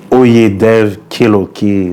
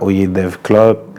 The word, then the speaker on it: Oyedevklok: C'est OyedevKeloke, c'est pas OyedevClock.